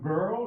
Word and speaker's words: GRL: This is the room where the girl resides. So this is the pronunciation of the game research lab that is used by my PhD students.